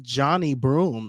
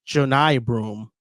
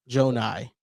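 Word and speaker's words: Johni Broome: watching the Auburn broadcast today that it's not Johnny Broom, it's like Jonai Broom. Oh, wow. Yeah. It's like J It's like Janai. Jonai.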